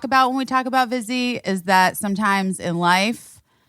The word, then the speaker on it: Vizzy: We look forward to talking about Vizzy Hard Seltzer here on Busy Phillips is Doing Her Best because, number one, Vizzy rhymes with busy.